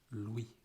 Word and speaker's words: Louis: name louis louis and you don't pronounce the s at the end in french it's louis and finally the final